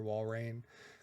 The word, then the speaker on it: Walrein: I feel like it has to be Walrein, like reindeer, Walrein.